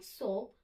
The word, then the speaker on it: soap: I am applying soap on my body now. Soap बोलना है, soap, not shop.